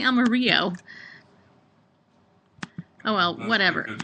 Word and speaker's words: Amarillo: If you're Caucasian, it's Amarillo. I always say Amarillo.